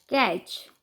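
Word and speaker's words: catch: TCH, कैच। यहाँ पे TCH एक ट्राइग्राफ है, जहाँ पे T साइलेंट है, CH को चालेंगे तो कैच।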